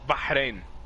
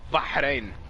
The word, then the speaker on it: Bahrain: throat, so you're like Bahrain. No, it's not like KH, it's not it's Bahrain. No. Not a you don't have to say it's Bahrain.